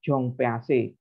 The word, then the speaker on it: Jean Piaget: Ini bukan Jean Piaget ya, tapi bacanya Jong PAC.